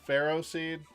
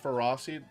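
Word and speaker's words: Ferroseed: Pharaoh Seed, right? That's how you pronounce that? Right, Laura? Pharaoh Seed, not Ferocity.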